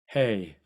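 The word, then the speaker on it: הא: 나면 돼 디귿 그다음에 헤이 아 그 발음 이름이 해인데 현재 이스라엘에서는이 이름을 해라고 발음을 해요 그래서 제가 이제 거기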